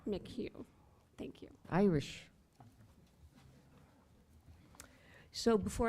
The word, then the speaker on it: McHugh: It's Mick Hugh. Mick Hugh.